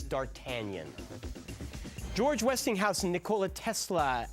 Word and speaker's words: d'Artagnan: day archean hot no they want a really complete pronunciation it's d'Artagnan George Westinghouse in Nikola